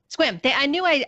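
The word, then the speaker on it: Sequim: Squim. I was like, I know I'm going to mispronounce this.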